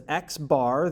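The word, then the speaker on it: x̄: here at the top we pronounce this as xbar that is our sample mean and in this case it is 129.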